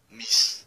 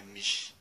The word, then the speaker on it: miš: Aí, quem não sabe disso quando vai falar croata, fala mis, e não é mis, é miš.